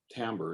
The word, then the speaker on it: timbre: you think of timbre it's spelled t-i-m-d-r-e timbre is the pronunciation think about architecture as